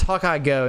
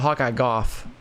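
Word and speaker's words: Hawkeye Gough: I'm pretty sure it's Hawkeye Go, not Hawkeye Goff.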